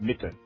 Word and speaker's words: Mitte: As in underground.